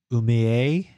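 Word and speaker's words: Umeå: Umea is the Sweden name, so you pronounce it right, except the ah. Umea?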